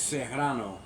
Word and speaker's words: Serrano: ] properly so like it's Serrano like you know you got to roll that r on it but she comes in